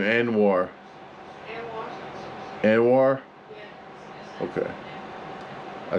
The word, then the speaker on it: Anuar: Anuar.